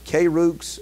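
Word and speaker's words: κῆρυξ: you look it up in the Greek is kurix sometimes you'll see that word used uh where Apostle is but but he was a preacher he was a courage or k Rooks actually is how that's pronounced which means to be a Herald or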